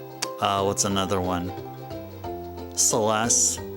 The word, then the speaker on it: Celes: Celeste, not Calis.